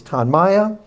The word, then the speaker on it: Tonmya: So our brand name, as Ann said and correct, pronounce it correctly, is Tanaya.